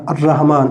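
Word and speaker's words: الرحمن: এবং এটা কি করছে দৈত্য চাপ ক্রিয়েট করছে আর রাহমান এইযে আলিফ লাম শব্দটাই তারপরে যে শব্দটা আছে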